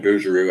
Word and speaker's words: Bouguereau: Some people call him Bouguereau, but I don't like the way they call him Booger. But I pronounce his name Bouguereau. Adolf William Bouguereau, who's the best painter in the world in history, and they tried to destroy him.